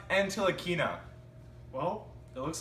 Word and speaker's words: Ntilikina: A great pick by the Mavericks getting Titi Kana, a great guard from France. What do you think about the pick? You pronounced it completely wrong. You call yourself an NBA expert, a broadcaster. It's pronounced Ntilikina.